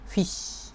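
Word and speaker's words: Fisch: এটাকে ইংরেজিতে বলে ফিশ এটার জার্মান বানান একটু ভিন্ন হলেও এটা আসলে মোটামুটি একই রকম শোনা যায় উচ্চারণটা ফিশ ফিশ মানে হচ্ছে মাছ বা ফিশ যেটা আমরা বলি এটার বহুবচন হচ্ছে ফিশে।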